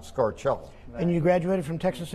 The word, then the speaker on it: Scarcella: It's Scarcella in America, but if you go to Rome, they'll fuss at you because the C-E is pronounced ch, so it would be Scarcello, and a clerk at the hotel in Rome really jumped on me and admonished me because I pronounced my name Scarcella and not Scarcello.